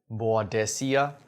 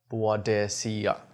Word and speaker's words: Boadicea: boad desia so this is the um actual pronunciation of this company badia the Victorious badia okay so this is the correct pronunciation some